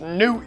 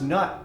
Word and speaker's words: Nut: It's pronounced newt, you Egyptian No, idiot. it's not. It's pronounced nut.